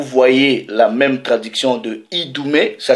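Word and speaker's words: Idumée: Vous voyez la même traduction de Idoumé, ça s'écrit I-D-U-M-E, accent aigu, E.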